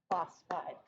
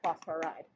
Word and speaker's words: phosphide: It's always just the first syllable. First syllable and then ide. Syllable. And bull. Then ide. So it would be, it's always like phosphide, not phosphoride. Oh, okay. Okay? Yeah. So similarly, like we didn't have nitrogide, we had nitride.